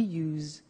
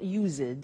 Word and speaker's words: used to: don't have now we use used to look at the spelling s it's it's u s e d and then t o but the pronunciation is not usid it's us unusual used okay so the example